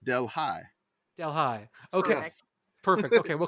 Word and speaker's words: Delhi: There's a Delhi, Louisiana, and it's pronounced Delhi.